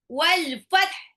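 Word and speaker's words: والفتح: Wal fath. Jadi bacanya gimana tuh? Atya kedengaran tapi ada ha tipis.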